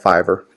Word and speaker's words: Fiverr: no no problem there is a site called fiber and it is spelled f I the theism Victor are are fi v RR fiber go onto Fiverr and you can find somebody for like 5